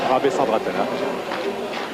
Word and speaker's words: Rabesandratana: l'as nancy lorraine bareille rabesandratana sa mère demande d'agneau sa mère demande on prononce son nom en entier et pas seulement rap et comme on le fait de temps en temps voilà loïc pérard l'ancien